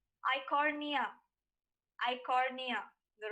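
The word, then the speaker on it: Eichhornia: as the water hyacinth iconoria i'm sorry the right pronunciation would be i cornea i cornea the right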